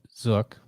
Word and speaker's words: Zook: That's Eon's Elite Zook. Rhymes with book.